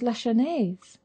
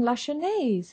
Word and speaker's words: Lasher: My name's Lashes. Beg pardon? Lasher. Lasher. You don't pronounce the middle S.